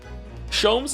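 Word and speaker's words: Sholmes: Shoms is pronounced the same as jams. Shoms. Herlock. Shoms.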